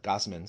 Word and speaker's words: Gausman: know, Gman was uh Gossman, sorry. I always I always mispronounce his name. I always want to say like gauze or you know it's supposed to speak gauze. I always say gaus.